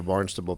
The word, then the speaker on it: Barnstable: yeah well bar you know let's get into Barnes toble PD and uh can you talk about that